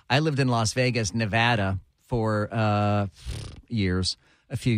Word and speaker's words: Nevada: it Nevada Nevada I lived in Las Vegas Nevada for uh years a few years and uh and I learned that it was pronounced Nevada um you know the Hollywood Walk